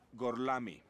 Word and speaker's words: Gorlami: Lo pronuncio correttamente? Sì, è corretto. Gorlomi? Per cortesia, me lo ripeti ancora. Gorlami.